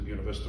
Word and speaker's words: Buena Vista: My parents moved to Buena Vista when I was a little kid.